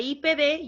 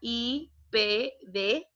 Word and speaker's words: IPD: Mientras que, si hacemos la comparación, entre IPD yo tengo que pronunciar letra por letra, IPD.